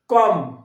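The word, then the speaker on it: comb: বি দেখো কম, এটা হচ্ছে না কম নয়, বি এর উচ্চারণটা হবে না, কম।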